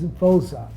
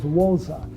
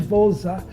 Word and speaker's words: Voza: director my name is vza V for v o zaa the show that I saw was wza W zaa and South Africans when they pronounce v it's like w so they thought that